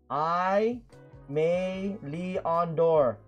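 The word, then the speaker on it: Aimé Leon Dore: Aime Leon Dore. Okay, that's how you say it. Aime Leon Dore.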